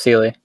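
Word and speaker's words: Seelie: It's pronounced Sealy.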